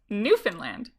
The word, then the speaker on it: Newfoundland: Newfoundland.